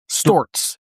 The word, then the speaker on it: Stewart's: Adirondacks, you would know it's pronounced Storts.